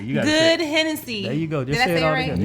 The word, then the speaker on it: GoodHenneC: It's good Hennessy. You got Good Hennessy.